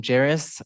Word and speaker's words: Jerus: Hey everyone, I am Jerus and I always say just like Paris but with a J.